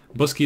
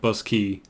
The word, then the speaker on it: Boscaí: word and it's basically busky is the Irish word for boxes just that's simple as that and as you can see it's pronounced like bus key because you know Irish is weird yeah I mean like